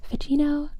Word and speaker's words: Ficino: So I've been pronouncing this Ficino. I've been pronouncing that Ficino, but let me know if that's wrong. Yes, the reasons that we have the Italians, that I want the Italians in the chat, is because I'm also I need help with my pronunciation of all these fun things I'm learning. Ficino? Yes, it's right. Yes. Amazing. No lesson required.